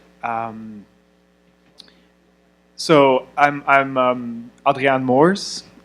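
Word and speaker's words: Adriaan Moors: so I'm I'm um Adrian Moors um this is kind of like the hybrid um pronunciation for the the Dutch first name and um English version of my last name um I've been working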